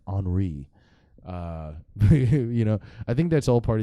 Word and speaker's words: Henri: I was wondering why it was Henry with an I, but apparently it's not pronounced Henry. It's pronounced Hurricane Henri.